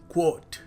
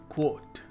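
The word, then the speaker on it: coat: Finally कोर्ट कोर्ट। और हम क्या कहते हैं? कोर्ट। यह शानदार कोट है। ये देखो इसको। कोर्ट है ये। सो the right way to pronounce it इज कोट।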